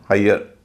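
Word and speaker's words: hire: उच्चारण होता है य जैसे एच आई आरई इसका उच्चारण है हाईयर इसी तरह एफ आई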